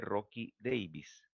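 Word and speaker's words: Rockey-Davis: Generalmente la que nosotros ocupamos en el hospital es una incisión transversal, que se llama incisión de Rocky Davis. Se escribe Rocky Davies. Rocky, CKY, Rocky Davies.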